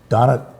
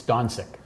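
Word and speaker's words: Dončić: Donick? No, I'm not pronouncing his last name correctly. I think D-O-N-I-C. it's Doncic.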